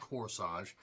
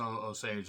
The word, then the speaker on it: Osage: Osage, however you want to say it, not Corsage, Indian tribe. People have different ways of pronouncing it, so Osage is the best way to pronounce it.